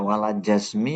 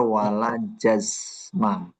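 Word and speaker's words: ولا جزمَ: Wala jazmi atau wala jazmu tadi. Ini yang benar wala jazma seperti itu.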